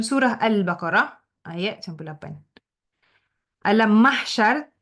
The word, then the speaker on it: mahsyar: ataupun surah al-Baqarah ayat 98 alam mahsyar. Ejaan mahsyar tu ada huruf H. M a h s y a r. Mahsyar bukan masyar.